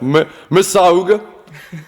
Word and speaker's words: Mississauga: I'm not sure how you pronounce that. Mississauga.